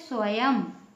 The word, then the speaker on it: स्वयं: बिंदी लगाई जाती है लेकिन उसका उच्चारण अंगा ना म यह नहीं निकलता है अना यह नहीं निकलता है उसमें सिर्फ म आधा म ही निकलता है जैसे स्वयं ठीक है सत्यम एवं